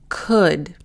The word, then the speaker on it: could: And next one, put, book, could. Again, here, by looking up the phonetic transcription of the word, you'll notice that the L is silent.